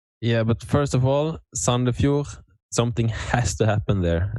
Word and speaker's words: Sandefjord: Is that right pronunciation? Yes. Sandefjord, yeah.